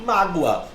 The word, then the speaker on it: mágoa: O som dessa letra, por mais que a escrita dela seja o O, né, a letra O, que é comumente, né, uma vogal, eu tenho um sonzinho de um U. Então aí, mágoa. Perceba, vamos acentuar as paroxítonas terminadas em ditongo. Perceba que a palavra mágoa tem como a sílaba tônica o má, que é uma paroxítona. E ela terminou nesse ditongo, o gua, mágoa.